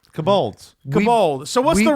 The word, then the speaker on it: kobold: You said kobold. Kobolds. Kobold. So what's we- the real word, Stefan? We both know what we're talking about, Yeah, but see? we're putting emphasis on different syllables for arbitrary reasons.